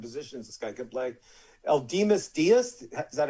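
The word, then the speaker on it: Aledmys Díaz: Eldimas Diaz, is that how you pronounce it, Mr. Ratner? The way I say it is Aledmus Diaz.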